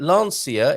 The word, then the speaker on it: Lancia: saw yesterday um and it is a launcher uh is that how to say it lancia is how some people say in the uk i think last year might be how some others say like lucia and lancia and that is